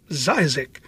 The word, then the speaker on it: Zzyzx: Don't forget it's pronounced zisa, the last word.